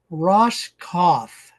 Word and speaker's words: Roskopf: We're visiting with Ross Kauf. So, the P is silent.